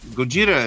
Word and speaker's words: Gojira: Yeah, Gojira is the Japanese pronunciation of it. Godzilla is the best they could make out of it.